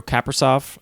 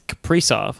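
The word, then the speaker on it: Kaprizov: that we were both saying koreal caprisoft um it's caprice of like pre suns thank you to the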